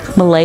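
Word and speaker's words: Millé: My name is Malay. I will spell that. M-I-L-L-E with a little accent over the E for fun.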